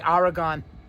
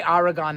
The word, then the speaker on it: Oregon: I say Oregon. I say Oregon, not Oregon. Of course, it's supposed to be said Oregon, but I say Oregon.